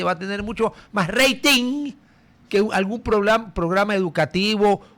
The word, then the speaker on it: rating: Se escribe r a t i n g y se pronuncia rating. Acá le dicen rating. Bueno, rating con e y sin g.